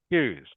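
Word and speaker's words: queue: the letter q q even though it is spelled with these vowels it is pronounced Q just like the letter A Q is just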